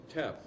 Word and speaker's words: teff: And the other one was a wild grain called teff, T-E-F. It's pronounced teff.